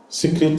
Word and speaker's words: secret: How do you pronounce this? Not sacred. Secret is secret.